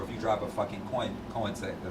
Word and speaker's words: Koenigsegg: No matter if you drive a shitbox or if you drive a fucking Koenigsegg. Did I say it right? Man, did I say it right? Koenigsegg. Koenigsegg, yeah.